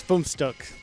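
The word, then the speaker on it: Fünfstück: I'm gonna say Funstuck. Am I even close with that? Close. Funstuck would be the correct pronunciation.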